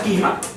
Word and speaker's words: χυμεία: Y en el griego se utilizó la palabra quima, se pronuncia quima, y en el árabe